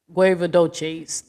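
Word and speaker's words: Guevedoces: Guevadoches. That's how you pronounce the Guevadoches.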